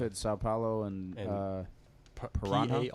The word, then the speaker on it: Paraná: São Paulo and and Paraná. a n a. r a n a. Paraná. With a accent on the A there, so. On the A? Yeah, on the last A.